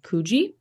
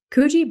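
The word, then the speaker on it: Coogee: rough one for beachgoers in the suburb of kuji now took me a while to figure out how to pronounce that it's about c-o-o-g-e-e and I was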